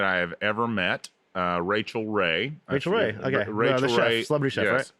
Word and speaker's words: Rachel: really like like this racial Ray girl but he was mispronouncing Rachel so I would think like when I was young I like this racial Ray she like racist cook or something and so